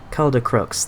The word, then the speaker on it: Caldercruix: Caldercruix, that's how you say that.